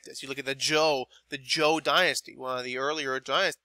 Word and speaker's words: Zhou: And now when you see this ZH, anytime when you're looking at the pronunciation of Chinese words that have been alphabetized, this is going to have a J sound.